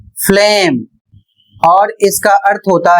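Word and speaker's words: phlegm: जैसे लिखा है पी एच एल ई जी एम इसे यदि आप नियम नहीं जानते हैं तो फेलगम या फिर कुछ और आप पढ़ें जबकि इसका सही उच्चारण होगा फ्लेम और इसका अर्थ होता है कफ या बलगम।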